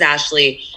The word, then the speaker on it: Ashly: told my interviewers is my name is ashley ashley without the e my parents didn't know